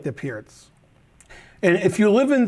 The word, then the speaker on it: Pirc: all of you um most americans who are lower rated call it the perk um i mispronounce a lot of names from players who aren't american so when they say perk i know what they're talking about um but i think pierce is considered the most uh normal way of pronunciation and you can see